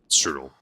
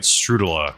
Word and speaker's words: strudel: Whatever they made is not strudel strudel. Like I said, for some reason they kept calling it strudela, which does not sound like the correct way that you pronounce it either.